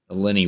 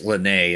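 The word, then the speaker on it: Lyney: yeah that went well a lot more smoother than the Lenny one I think that's how it's pronounced no it's it's lynnae and then and then his sister's Lynette yeah look lynnae all right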